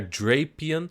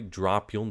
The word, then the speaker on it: Drapion: catch an eye sponge on their drapion sorry dropion that's the correct pronunciation um but unsuccessfully and